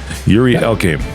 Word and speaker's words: Yuri Elkaim: Yuri Elkaim. Did I pronounce it right?